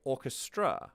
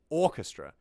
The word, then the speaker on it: orchestra: is a grand Orchestra when we speak do we say Orchestra no we say Orchestra so you want the beat of the song to be on the emphasis of the syllable on the syllable that is emphasized in the word so you want